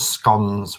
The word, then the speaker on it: scone: Oh, I think scone rhyme with stone just means you're posh.